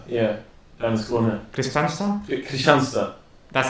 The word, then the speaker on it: Kristianstad: Kristianstad, That's how you pronounce it. Yeah. Like in the lingo. yeah. Okay. That's how Swedes pronounce it. Yeah, they like eschew a bunch of the letters. It's Kristianstad.